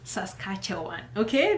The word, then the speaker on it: Saskatchewan: I know a lot of you can't even pronounce that name. It's Saskatchewan, okay?